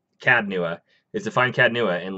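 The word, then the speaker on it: Cad Nua: The only quest that I have going on right now is to find Cas-Nua. Did I say it right? Cad. Cad-Nua.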